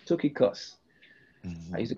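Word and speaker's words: Tychicus: top here we have we have um it's pronounced two key costs took a cuss i used to call it tickias all right um his role paul calls him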